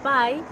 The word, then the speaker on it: pi: Bueno, pues el día pi, que allí se pronuncia pie, igual que pastel, se celebra en Estados Unidos comiendo pasteles redondos.